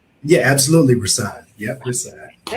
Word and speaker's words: Rahsaan: Am I pronouncing that right? Yeah, absolutely. Rasan.